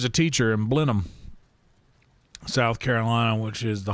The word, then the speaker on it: Blenheim: She was a teacher in Blenham, South Carolina, which is the home of Blenham Ginger ale. It looks like Blenheim. That's how it's spelled, but it's pronounced Blenham.